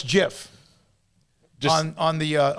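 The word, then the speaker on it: GIF: guy that made g-i-f says it's pronounced with a j jiff just the guy we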